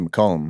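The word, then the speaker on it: McCallum: And so you went to McCllum, right? Yeah. Yeah. Well, we pronounce it Macllum. Macllum. Yeah. That's like the Texas way.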